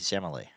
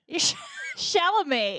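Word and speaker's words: Chalamet: I don't need to smell like Timothy Shamlet. You still can't say his name. Timothy Shamlet. Shalamé.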